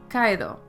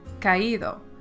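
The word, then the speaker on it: caído: the accent this would be pronounced Kao we want it to sound like kaido that's why there's an accent so the two vow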